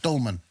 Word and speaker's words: Dülmen: No, I went to 6 Supply Regiment, based in Gütersloh, but I was in a place called Dülmen, as the Germans would pronounce it, Dülmen.